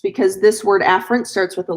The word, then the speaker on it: afferent: on purpose it's it you pronounce it afferent but I like to say a ferret and the reason why